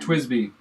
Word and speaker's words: Twisby: Twisby. Twisby. Twisby. Yep, it's a basically 2 words put together.